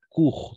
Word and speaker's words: court: Et on va prononcer court, tout simplement court.